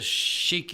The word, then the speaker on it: Sheik: a Arab headdress, Sheik, Sheik, and then Your Booty is Yerbuti. So, and some people pronounce Sheik as shake, so it's Shake Your Booty.